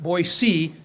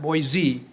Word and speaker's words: Boise: of the word it is supposed to be pronounced like Boise not Boise so get with it young man so that